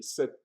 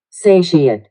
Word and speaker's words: satiate: Let me make sure I pronounce correctly. Satiate. Satiate. I always say set.